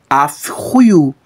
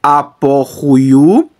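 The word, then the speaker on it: ἀφ' οὗ: trocar esse pi pelo fi eu não vou pronunciar ap e sim AF Então como é que vai ficar vai ficar dessa forma aqui ó afu afu Tá bom então eu não vou mais pronunciar Apu nem Apu e sim afo literalmente é isso aqui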